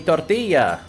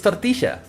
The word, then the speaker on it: tortilla: say it wrong like they say me tortilla and no it's tortia say it properly damn it or me